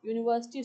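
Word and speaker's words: university: चलिए नेक्स्ट में आ जाइए, शी इज़ एन यूनिवर्सिटी student, N नहीं आएगा, क्या आएगा, अ, क्योंकि यू की आवाज़ आ रही है, यूनिवर्सिटी।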